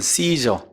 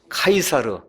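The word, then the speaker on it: Caesar: 우리가 옛날에 이제 배웠던 씨저 그래서 지금 요새 아이들 그 영어식 발음으로 하면 카이사 로 그 다음에 옛날 성경의 그걸 다만 가 이싸 에서 아시져 가이사 씨저 카이사르 예 율리우스 카이사르 유명한 사람 하시죠 예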